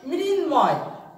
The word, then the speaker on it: মৃন্ময়: আর এখানে আছে মৃন্ময়, মৃন্ময়। তো এই মটার কিন্তু উচ্চারণে আসছে, সেহেতু এখানে আমরা চন্দ্রবিন্দুটা দিব না।